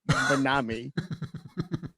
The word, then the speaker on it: MYNAME: It's MYNAME, and it's pronounced Minami.